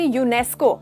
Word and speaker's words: UNESCO: ये देख रहे हो हम ऐसे नहीं कह रहे UNESCO, ऐसे करके नहीं कह रहे, आप एक वर्ड में कह रहे हो, उस वर्ड को जैसे प्रोनाउंस करके कह रहे हो, प्रोनाउंस कर रहे हो, इसीलिए उसके आगे आर्टिकल नहीं लगेगा।